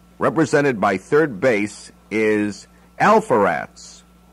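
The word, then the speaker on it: Alpheratz: by 3rd base is alpha rats sounds like awful reps but it's spelt ALP h.e.r ATZ all for rats all fur ettes is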